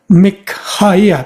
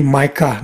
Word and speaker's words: Mikha: Or mikah ada ha lagi di tengahnya. Nah di dalam bahasa Inggris di adop jadi maik dalam bahasa Indonesia jadi mik atau mika dibacanya ya.